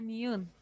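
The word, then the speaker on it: 니은: Ya sea que esté al principio, al medio o al final, va a sonar como una N. Así, así nada más. Entonces esta letra se llama niun.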